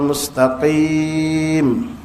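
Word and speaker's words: مستقيم: Bukan "kim." Bedakan antara qaf dan kaf. Ihdinas siratal mustaqim.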